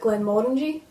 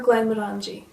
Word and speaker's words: Glenmorangie: Now there is quite a bit of debate over how to say this whisky's name. Is it Glenmorangie or Glenmorangie? I say Glenmorangie, and the reason why is because I think Glenmorangie sounds almost American.